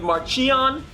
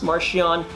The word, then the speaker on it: Marchion: one composer michael giacchino personally i would have gone with marcion which i think has an authoritative ring to it all that said we